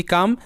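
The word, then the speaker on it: come: exception বা ব্যতিক্রম যেমন কাম সি ওমই কাম এখানে যদি এইচ ও এম হোম হয় তাহলে সি ও এমই কাম কম হওয়ার কথা বাট এখানে কিন্তু এটা কাম তো এটা ডিফারেন্ট এরপরে সাম এস ওম সাম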